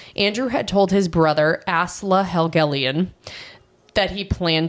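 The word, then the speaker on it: Asle: that one up because I thought it was AEL it's a l e that's fair AEL yeah no it's ASLA okay okay anyways the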